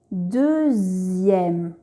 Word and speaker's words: deuxième: La lettre X peut également faire le son Z, comme dans les mots deuxième, sixième, 18.